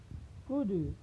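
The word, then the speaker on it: could: प्रयोग किया गया हो, तो वहाँ पर यल साइलेंट होता है। जैसे शुड, कुड, यूड।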